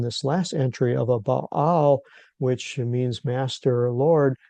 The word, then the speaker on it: Baal: It's actually this is baal is the correct Hebrew pronunciation.